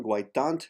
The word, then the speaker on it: guaitant: Guaitant del fons de la blavor liuniana. Guaitan, the last T is silent. Guaitan dal fons de la blavo.